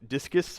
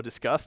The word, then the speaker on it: Disqus: use some service like discus or Disqus depending how you pronounce it to have like an